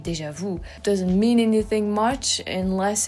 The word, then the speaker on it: déjà vu: as an example, and so you just drop the last sound of it, you know, déjà vu, like view. Oh, like view too. Well, there's the U that could work, or view, déjà vu, which sounds better than déjà vu.